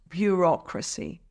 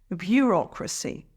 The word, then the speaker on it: bureaucracy: speed up payments and it's pronounced bureaucracy here's how to break it down burac emphasize the second syllable Rock repeat after me bureaucracy bureaucracy the fifth word